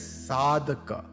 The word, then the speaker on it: sadhaka: the existence is called a Seeker it is pronounced as sadhaka via vivea is the discernment or discrimination between